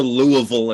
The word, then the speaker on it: Louisville: seminary in it's in louisville kentucky okay or louisville if you say it like you're from here but only people from kentucky say like that and i'm not from